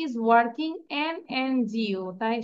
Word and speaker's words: NGO: এনজিওর আগে কেন আমরা অ্যান দিলাম?